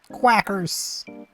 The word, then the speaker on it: Quackers: U Quackers. It's like crackers but quack.